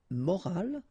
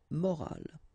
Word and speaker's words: morale: but in that case you've got this at the end, which is silent, so you don't pronounce it. So clearly it is the same pronunciation for the two words, but then in that case it's feminine, une morale, okay?